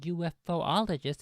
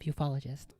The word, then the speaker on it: ufologist: That's two people now who claim to be interested in the extraterrestrial phenomena, who say UFOologists as opposed to having the esoteric knowledge of the proper pronunciation of ufologist.